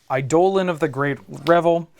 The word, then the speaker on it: Eidolon of the Great Revel: I have Mountain, Ramanap Ruins, Monastery Swift Spear, Falcon Wrath Gorger, Eidolon of the Great Revel, that's how you pronounce it, and Roiling Vortex.